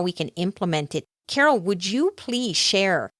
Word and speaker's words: Carole: connect with me on LinkedIn my name is Carol but it's spelled with an e on the end so